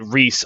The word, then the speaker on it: Rhys: like say Claude or Rhys I think wait race with the wyr s not Reese rhy s so they pronounced the same and the [ __